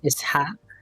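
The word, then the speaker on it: Isaaq: Like it's pronounced Isaac, right? Not Isaac, Yeah. even though that's what I was saying in that video. Isaac, I don't know. It's called, in my language, I would say Ishaq.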